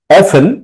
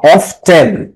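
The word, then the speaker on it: often: মা প্রায় কথা বলেন হেন্টস মানে তার বাবামা অফেন প্রায় বা অফটেন তোমরা এটার উচ্চারণ অফটেনও করতে পারো অফটেন টক প্রায় কথা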